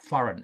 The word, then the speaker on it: foreign: We don't say the G, the letter G, we don't pronounce foreign. So the G is a silent sound.